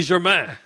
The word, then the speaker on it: Germain: the rest of the world, From now on, it's going to be Germain.